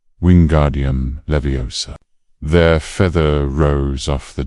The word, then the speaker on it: Wingardium Leviosa: Wing Guardium Leviosa, he shouted, waving his long arms like a windmill. You're saying it wrong. Harry heard Hermione snap. It's Wingardium Leviosa. Make the gar nice and long.